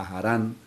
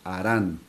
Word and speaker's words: Harán: Las otras versiones dicen Harán, ya que la H en muchos casos antiguamente tenía el sonido también como de la J que nosotros pronunciamos ahora. Entonces, por eso aparece como Harán o Harán. Si la H se toma como muda, simplemente sería Harán, pero si la H se toma como con el sonido también que tenía la